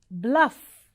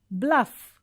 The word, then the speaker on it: bluff: next prefer prefer next bluff double it should sound as single f okay so bluff okay next so it